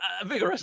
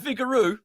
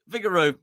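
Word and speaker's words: Vigouroux: Colin Redmond sry Brun lson over FEI Vigor vigorous I I I'm so sorry I've iMed the phrased at PACE uh is how you say it vigaro vigaro um oh my word excuse me I got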